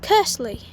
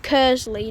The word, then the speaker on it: Kearsley: And as those two trains go to their respective destinations, I shall catch you all when the next train comes here at Kearsley.